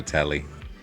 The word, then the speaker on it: Telly: That's a reference to a telly. I like that. Before we get to what's on my screen, the name's Telly. Rhymes with Nelly.